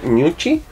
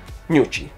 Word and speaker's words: Gnucci: Creo que se pronuncia Gnucci. Gnucci, claro, porque si es italiana se pronuncia Gnucci, ¿ya?